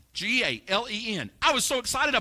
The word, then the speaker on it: Galen: They pronounce it Colin. Galen.